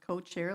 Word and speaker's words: Co-Cares: their Co-Cares program, and that's pronounced co-chair like co-sponsor.